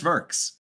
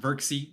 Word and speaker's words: Verks: So, it is Zakay and Verks is just Verks, not Verxie or Verxil.